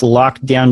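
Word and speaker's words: Lockedown: on my site it's lock down design . silent E after the lock and you can email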